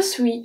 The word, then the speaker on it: suis: Je suis fatiguée. Je, we pronounce everything. Suis, suis. This one, the S is silent.